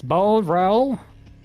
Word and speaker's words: Boreal: We have to find out how to pronounce Boreal. Like, is it French? Is it Portuguese? Is it Spanish? Is it none of the above? It's Boreal.